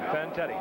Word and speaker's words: Fantetti: Fantetti.